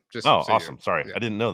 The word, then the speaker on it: Asim: His name is pronounced Awesome.